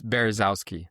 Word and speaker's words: Berezowsky: I want to pronounce it correctly. It's Berezowsky.